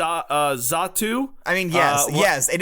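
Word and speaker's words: Xatu: backwards uh z uh zatu I mean yes yes it is zatu it is I mean not with a Z with an X but it is z but it's pronounced like Z like zatu yes I believe so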